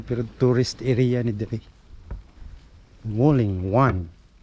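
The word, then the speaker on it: Wulingyuan: Mao ko pronunciation Wuling Yu. Ang spelling mo Wuling Yuan. It should be Wuling Yuan.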